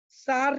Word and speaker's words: Tsar: Students, 1914 में सार Nicholas second, TSAR उनका नेम होता है लेकिन टी साइलेंट रहता है तो उसको हम सार बोलते हैं।